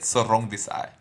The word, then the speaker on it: Sor Rungvisai: Listen to the dulcet tones of the king of Salvadoran strong style, giving you the correct pronunciation. Sor Rungvisai.